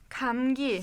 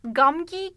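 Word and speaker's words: 감기: okunuyor biraz g sesi Ancak bu ses hecenin başına geldiği zaman bakın en başta gördünüz mü O zaman birazcık daha böyle köye yakın Okulda tam böyle gamgi gibi okumuyoruz Tam gi Kamil Kamil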